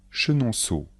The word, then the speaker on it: Chenonceau: château de Blois Blois le château de Blois chenonau le château de Chenonceau chenonau le château de Chenonceau Amboise le château d'emboise